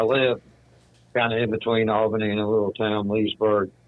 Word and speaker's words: Albany: on alny verse Albany I've heard a lot of locals call it all Benny like b n n